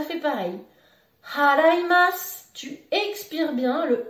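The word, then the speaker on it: 払います: Attention, il faut bien prononcer le H du début du verbe.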